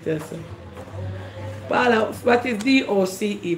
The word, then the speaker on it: doce: So in central Spain, the C is pronounced like T-H. Doce. Doce. I know what it is. But in other parts of Spain and South America.